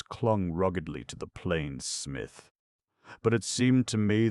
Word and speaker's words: Psmith: The name is Smith. Pith P. Smith, sir? No. No. P S M I T H.